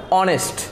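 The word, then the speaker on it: honest: না বসে অ্যান বসবে, তাহলে আমরা এটাকে উচ্চারণ আবারও করি অনেস্ট, আমরা এটাকে হনেস্ট বলি না, এটাকে বলে অনেস্ট, O, that's why ও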